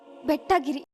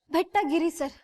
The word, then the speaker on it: ಬೆಟ್ಟಗೇರಿ: ಹೇಳಿ Sandhya ಬೆಟ್ಟಗಿರಿ ಸರ್ please note this point your honour Sandhya ಅವರು ಚಿಕ್ಕ ಚಿಕ್ಕ ವಯಸ್ಸಿಂದ ಬೆಳೆದ ಊರನ್ನ ಹೆಂಗೆ ಉಚ್ಚಾರಣೆ ಮಾಡಬೇಕು ಅನ್ನೋದನ್ನೇ ಮರೆತುಬಿಟ್ಟಿದ್ದಾರೆ ಸಂಧ್ಯ ಅವರ ಊರಿನ ಹೆಸರು ಬೆಟ್ಟಗೇರಿ ಇರ್ಲಿ ಸಂಧ್ಯ ಬೆಟ್ಟಗಿರಿ